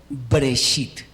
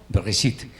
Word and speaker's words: Bereshit: No es Breshit, o sea, sin que esta no se, o sea, sin que esa se pronuncie, sino es una vocal, pero es corta. Bereshit.